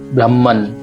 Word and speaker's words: ब्रह्मन्: हमको न पूरा उच्चारित नहीं करना है। अगर नीचे की तरफ आप एक बार मात्रा देखिए, ये मात्रा क्या इंडिकेट करती है? मात्रा इंडिकेट करती है कि न का उच्चारण पूर्ण नहीं होता है, न का उच्चारण आधा होता है।